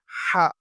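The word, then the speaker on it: ح: On dit la lettre ha comme alhamdillah.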